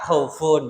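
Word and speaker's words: خوف: Nah, dan cara bacanya contoh dari mad iwat ini yang aslinya dibaca khaufun menjadi khauf begitu kalau berhenti. Kalau berhenti. Tapi tapi kalau tidak berhenti tetap bacanya khaufun begitu.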